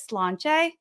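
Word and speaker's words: sláinte: are enjoying a Guinness you say that as slan and that is how you say cheers um for any of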